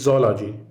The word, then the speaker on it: zoology: next letter is dead it's not zoology it's zoology actually we should say zaw not zoo when we go to the zoo so thank you all